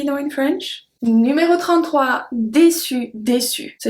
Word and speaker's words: déçu: Numéro 33, déçu, déçu. So it's the same pronunciation since we don't pronounce the E at the end, but if it's feminine, you have to add the déçu, déçu.